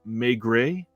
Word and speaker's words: Maigret: said that it's pronounced Maigret. That's the French pronunciation, so that helps.